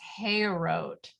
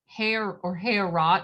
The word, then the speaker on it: Heorot: I think I was maybe pronouncing the name of the hall wrong. It's Heorot, Heorot, I suppose.